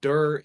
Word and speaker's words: Dir: But Dur, D-I-R, is like the abbreviated version of director.